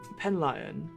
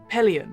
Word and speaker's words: Pelion: third one yes so I believe uh uh pen lion I believe is called or uh how did you Pelion there you go there lion or pillion it's